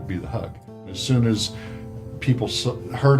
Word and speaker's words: HEUG: Because HEUG didn't sound right. I said, just drop the E, and we'll just be the HEUG. As soon as people heard us pronouncing it HEUG, it was fine from then on.